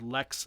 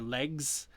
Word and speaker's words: lex: it was legacy or legs uh instead of saying legs legs legs it's lex and it just combined